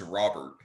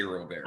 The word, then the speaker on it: Robert: you lose a louis robert which we will uh get to by the way i'll say this henry matt vasquez and mlb the show says robert he does not say roberto i am not expecting